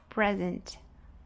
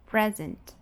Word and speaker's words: present: E aqui vem a nossa representação fonética para present, present. Então, pres, que vai ser a sílaba mais forte, e a sílaba átona, ant, ant.